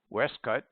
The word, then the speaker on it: waistcoat: waistcoat and primer Delight in a curious pronunciation pronounced as if written foreign westcut and primer there is a bishop in the